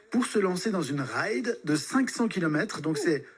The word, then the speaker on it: ride: donc c'est bien là ça se prononce à l'anglaise et non pas la ride comme les choses qu'on a sur le visage puisque partir faire une